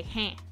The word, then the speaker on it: hein: And in French, they say hein, like H-E-I-N is how you would spell it, hein. And that's basically A, but French, I think.